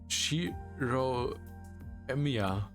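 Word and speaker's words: Shirou Emiya: sound like western names you pronounce it sheo emia just call me Shiro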